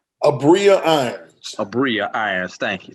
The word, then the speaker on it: Abria: How do you pronounce her first name? Abria Irons.